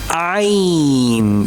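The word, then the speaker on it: عين: It is ain. Yes, very interesting. Ain. From the middle portion of throat.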